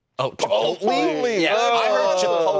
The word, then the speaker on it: Chipotle: No, you don't pronounce the L in that word.